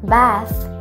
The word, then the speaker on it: bath: Siang, bath. อย่าลืมออกเสียงโดยการแลบลิ้นออกมานะคะเป็นเสียง th bath because Thailand is a